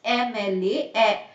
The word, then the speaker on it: MLA: Because when I pronounce MLA, the first sound that comes out of your mouth is A.